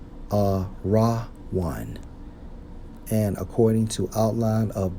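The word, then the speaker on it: ארון: according to the Hebrew Strong's H 727 pronounced as a raw one a raw one and according to outline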